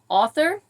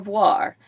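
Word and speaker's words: oeuvre: right prop number two I hope I can pronounce author or voir I believe it's how you said how you say that o e u v r e which is an author's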